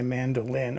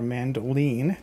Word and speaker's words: mandoline: I went out to the shed and I got my mandolin or mandoline, depending on how you pronounce it.